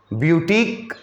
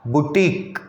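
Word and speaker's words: boutique: हाँ, इसका प्रोनंसिएशन भी कुछ लोग बुटीक करते हैं, उसमें यह वर्ड प्रोनाउंस नहीं करते हैं। दोनों प्रोनंसिएशन चलता है हमारे यहाँ, ब्यूटीक या बुटीक।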